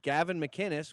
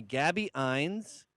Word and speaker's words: Gavin McInnes: And my name, Gavin McInnes, which should be a name that everyone is able to pronounce because the Scots built the modern world. They call me Gabby Ines, Gavine, Mr. Gavin.